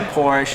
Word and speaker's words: Porsche: it no you know I always say porish and people get all bent out of it's just the American version of the name you know it's like